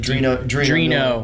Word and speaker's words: Drino: Drino. Yeah. I always mess up when I say Dino for some ridiculous reason, but Drino, because he had originally come from TRD.